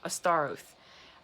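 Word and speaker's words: Astaroth: There we go, Astar Oath.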